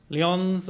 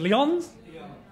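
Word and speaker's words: Lyon: so which is now if I'm pronouncing it right Leons or Leon Lions who's who can speak French is it Leon Leon Leon France thank you thank you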